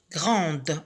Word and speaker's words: grand: Alors, ici, la lettre D ne se prononce pas. Mais lorsqu'on met ce mot au féminin, la lettre D se prononce grande. On sait qu'il y a un D à la fin du mot grand.